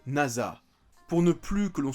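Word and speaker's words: 星空: Résumé, le prénom de Yuzaki Nasa, un collégien studieux, s'écrit avec le kanji de nuit étoilée, mais il se prononce Nasa.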